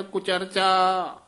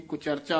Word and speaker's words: कुचरचा: छाड़ कुचरचा आन न जान है ये कुचर कुचरचा नहीं कहना कक्के तो डैश दे के कुचरचा उच्चारण करना है।